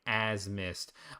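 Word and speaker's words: Azmist: Everyone gets the pronunciation wrong, but it's pronounced like as mist.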